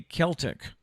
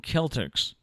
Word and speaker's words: Celtics: It should be Celtic. Yeah. They are the Boston Celtics, not the Boston Celtics, because you mentioned the Celtic women, the women that come around to do concerts. They are the Celtic women, not the Celtic women.